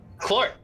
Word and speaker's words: Clort: Clort. You're having a hard time understanding. It's one syllable. Clort.